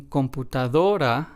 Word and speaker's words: computadora: is the first one and then in computadora we stress the second to last syllable because that is what this rule asks us to do so we stress the syllable do and then in the